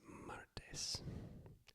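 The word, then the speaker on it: martes: lunis l u n s lunis Tuesday is mares mares Wednesday is mes mes m i e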